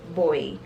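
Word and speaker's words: Gbowee: beat our powers by leima boy so there's a g but the g is silent she was a nobel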